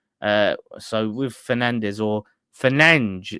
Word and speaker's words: Fernandes: Uh, so with Fernandez or Fernange in Portuguese, they they say pronounce it Fernang.